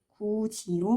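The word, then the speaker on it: 굳이: 구지로 발음하는 것이 있겠고요.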